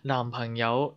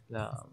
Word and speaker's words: 男: 男 remember we don't say 啱, we don't say that, we say 男. 男 we say it like a L.